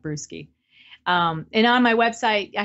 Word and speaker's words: Brueske: It looks like brewski.